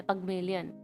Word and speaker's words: Pygmalion: पगमेलियन कह लो या पिग्मेलियन कह लो, पिग्मेलियन एक्चुअली रॉन्ग है। गूगल पे जाके प्रोनाउंसिएशन चेक कर लेना। तो मोस्टली जो है वो थोड़ा सा पगमेलियन होता है, पगमेलियन।